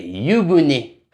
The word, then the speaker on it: 湯船: Non, c'est Yuné. Ah ouais, jamais entendu parler. Il s'écrit comment ?